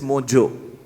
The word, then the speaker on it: Mojo: But the good part about Mojo is, unlike most other words start with J and O, should not be pronounced as Joe, it's Ho, it's San Jose. But Mohit Joshi has made Indians proud by making us pronounce the way it is, it's Mojo.